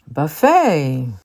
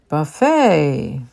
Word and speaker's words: buffet: quinoa vitamin vitamin vitamin Buffet Buffet jalapeno by the way Buffet is a French word so the ET is sound like a a and jalapeno is a